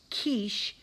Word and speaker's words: quiche: it make so because quiche is a pie that makes it a noun it is a thing and it is pronounced quiche k-e-e-s-h so those are the